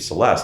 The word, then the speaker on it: Celeste: And she's like, okay, well, then our daughter we named Celeste. I'm like, no, that's a soft C. It needs to be a hard C, a cut.